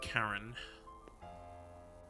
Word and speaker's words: Charon: could only trust in Karen the Fairman from hell oh Karen so we've had our our official pronunciation it is indeed Karen she's going to call